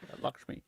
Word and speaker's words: Lakshmi: Lakshmi.